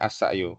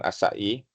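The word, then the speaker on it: السعي: Dibacanya as-sa'yu. Kenapa as-sa'yu? Nabilah, kenapa dibacanya as-sa'yu? Bukan as-sa'i.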